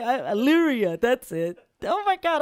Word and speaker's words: Elyria: Elyria, that's it. Oh, my God, I feel so bad. It's like a Canadian saying Wanapanega or something. Yeah. Like, what? He said Elyria.